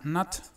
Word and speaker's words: not: Esta última pronunciación, el último paréntesis, el símbolo que está ahí en medio sería una O muy relajada. O sea, no es O, es A.